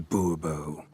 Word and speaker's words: Bourbeau: Monsieur de Bourbeau. The emphasis falls on the last syllable. Bourbeau?